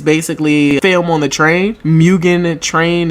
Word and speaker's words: Mugen: Mugen Train.